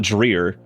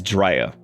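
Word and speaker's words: Dreher: mom said it's D-R-E-H-E-R, and everybody says Dreer. That's what they say. That's how they pronounce that high school's name. She said it's not Dreer. She said it's Drea.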